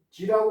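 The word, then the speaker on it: 亟: 그리고 요거는 기라고 발음을 하면은 자주라는 뜻이고 극기라고 발음을 하게 되면은 아 자주라는 뜻으로 쓰일은 기라고 발음하고 빠르다 좀 위태롭다 그런 뜻일 적에는 저 극이라고 발음을 해야 돼요.네 여기서는 자주입니다.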